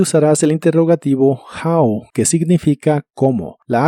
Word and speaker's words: how: que significa Cuánto dinero la o de how se pronuncia como a How la u de much